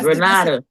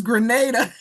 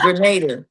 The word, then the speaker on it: Grenada: I'm from Chicago, so we pronounce our A's really weird. So, I pronounced it, what did I say? You I Granada. Granada. But it's Grenada. It's Grenada.